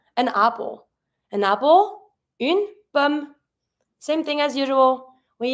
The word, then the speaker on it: pomme: The pomme has a double M. It doesn't change the sound. You're just going to be pronouncing like regularly, une pomme. And you stop at the M. Final E is mute.